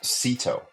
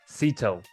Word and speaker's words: Szeto: right well we got Michael how do you pronounce the last name I don't want to mess it up you get Sito Sito Michael Sito out of North Carolina we were just talking